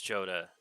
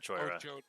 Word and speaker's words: Jodah: do you mean joda it's jodah not george yeah this one hey